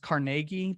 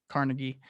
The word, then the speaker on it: Carnegie: andrew carnegie um or his name's actually pronounced carnegie but um you know everybody just calls it carnegie um and so you